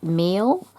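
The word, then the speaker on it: Miel: in the kit is I think it's pronounced meal uh m i e l by Frank Garcia it's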